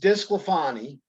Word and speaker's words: Disclafani: So it's pronounced DISclafani.